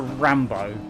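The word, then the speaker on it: Ranbeaux: oh no let's not call our character rambo r-a-n-b-e-a-u-x not r-a-n-b-o that's how you pronounce it i wasn't expecting the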